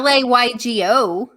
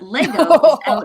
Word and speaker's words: Lego: It sounds like you say Lego. I did say Lego. It's not a Laygo. No. How do you spell it? It. But Lego is Lego.